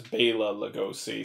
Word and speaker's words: Bela Lugosi: todd browning um with bailla lugosi i actually i watched another thing with him in it and he refers to himself as bela lugosi so i'm pretty sure that's how it's pronounced so uh dracula of